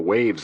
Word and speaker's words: WHAVS: I don't remember seeing a Prince Khalib on the waves list. WHAVS, pronounced waves, stood for White House Access Visitor System.